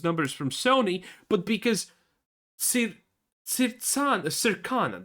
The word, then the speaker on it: Circana: from Sony, but because Circana, that's how you pronounce it, because Circana says it has, people are just assuming that?